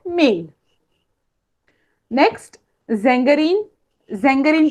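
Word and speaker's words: Sängerin: हो, अभी भी देखो वहां पे ए और उमलाउट है, आ उमलाउट, इसलिए हम लोग उसका प्रोनाउंसिएशन करते वक्त जेंगेरीन कर रहे हैं, झांगेरीन नहीं।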